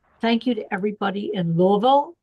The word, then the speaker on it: Louisville: So thank you to everybody in Louisville. See, I'm saying it right. Louisville, not Louisville, not Louisville, Louisville.